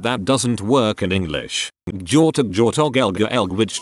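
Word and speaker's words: gjort: off do in norwegian george sounds the exact same as deer in norwegian jort as the G and H is silent so whenever I say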